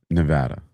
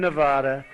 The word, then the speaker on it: Nevada: He goes, FYI, Mark Elias agrees with Ash on how to pronounce. What? You go ahead and say it. You can say it. Nevada.